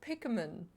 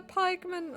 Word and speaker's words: pikemen: I thought it's pronounced pikman. You know, cuz you're picking picking people. I'm pronounced incorrectly all this time. They're not Pikman. They're pikemen.